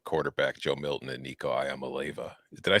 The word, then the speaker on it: Iamaleava: Well, we are on the subject of Tennessee and its super arm quarterback, Joe Milton and Nico Iamaleava. Did I say it right? Yeah, Iamaleava.